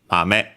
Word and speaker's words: 豆: The strictly Japanese one, kunyomi, is mame. Let's check it like this. Okay, actually accented on the last one, so mame.